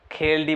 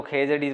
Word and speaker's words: खेजड़ी: और मारवाड़ी में तो इन्हें खेलडी बोले, यानी खेलडी, यानी कि ड़ जको यानी इन्हें साइलेंट ही कर दे पूरो खेलडी, यानी पण अम्पोने जो खेजड़ी बोलना है, खेजड़ी अन्य नाम है